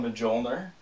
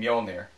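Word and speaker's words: Mjölnir: always wanted my own molner you mean Moler you there's a J in there no no it's Norse you you pronounce it with a Y what does Secretariat have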